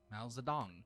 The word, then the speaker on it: Mao Zedong: Mao Zedong. I think. Mao Zedong. How do you spell it? Maozedong. Mao Zedong.